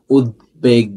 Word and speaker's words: উদ্বেগ: তুমি যদি দেখো দয়ের সাথে ব ফলা এবং গয়ের সাথে ব ফলা, যদি দয়ের সাথে এবং গয়ের সাথে ব ফলা থাকে, তাহলে সেই বফলা বহাল থাকে, তার মানে উচ্চারিত হবে, ও হচ্ছে উচ্চারিত হবে।